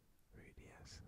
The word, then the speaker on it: Ruidíaz: And we get Ruidíaz, I think. Ruidíaz, that's how you pronounce it, but he's a duplicate.